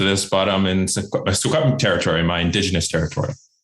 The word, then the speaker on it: Secwepemc: Secwepemc?